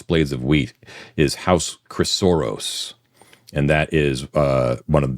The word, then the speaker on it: Chrysoros: Chrysoros is CHRYSOROS.